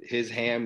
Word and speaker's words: Hisham: are cruel but um that told me how to tell people how to spell my name ham so his ham Hisham that's uh that's a easy way to remember how to spell it in uh